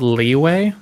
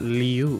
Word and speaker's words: Liyue: It's called Leeway? Yeah, Liyue. I can spell it for you. Liyue. I would honestly, I think I might be inclined to call it Liu. One of the NPCs calls it that, and it's horrific.